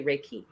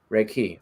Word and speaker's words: Reiki: so it's reik key so the emphasis goes on the second syllable I know most people think it's but it's actually Reiki Reiki okay cool I learned